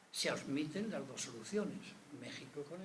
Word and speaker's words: México: Pero no olviden que si México se escribe con X, se pronuncia con J.